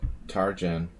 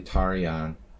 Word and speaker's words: Tarjan: the united states jim tarjan and his whole life you know everyone pronounced it tarjan he calls himself james tarjan but it's it's an old hungarian name it's actually tarian eliash there's this one